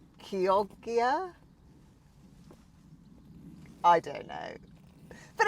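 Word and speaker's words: Chioggia: I know that the CH is a hard K sound, so Kyogia?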